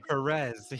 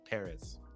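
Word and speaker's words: Pérez: that's what i'm saying like you're not saying perez yeah i think that's how a lot of people might see that name because it's the most common you know that's the typical way to pronounce it but it's paris uh okay okay i'm done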